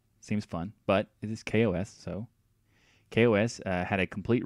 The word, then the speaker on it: KaOS: just want to point out that it is pronounced Kos even though I kind of want it to be chaos that just I don't know seems fun but it is Kos so Kos had a complete redesign of the